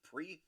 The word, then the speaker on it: Prix: pre is is lower and pre it's spelled p r iix i will let you phonetically say that out loud we go with pre just like the Grand Prix uh KP we need